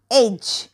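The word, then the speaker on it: edge: ई डी जी ई एज म्हणजे काय धार किंवा किनारा ओके आणि इथे सायलेंट लेटर आला डी नेक्स्ट बघू बी आर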